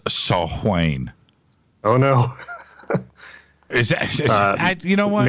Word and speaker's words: Samhain: of all Gaelic Celts Samhain is pronounced a salt Wayne oh no you don't